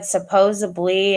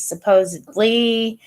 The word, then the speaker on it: supposedly: they said I guess I might have said supposably and it's supposedly and then they put